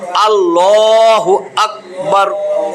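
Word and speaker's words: اللهُ أَكْبَر: শুরু আল্লাহ আল্লাহ আল্লাহু আকবার আল্লাহু আকবার আল্লাহু আকবার এই রটা মোটা হবে আল্লাহু আকবার পড়াইছিলাম না পর করা মোটা কইরা পড়া র্যা এর ডাইনে যদি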